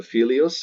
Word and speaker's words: fili: Now, if you had a second declension masculine noun ending in ius, its vocative will be a single I, pronounced E. So filius, it'll be fili.